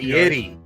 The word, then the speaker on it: Fieri: Trees, Ponder lost a bet and had to get the Guy Fieri, or however you say his name, look. Fieri.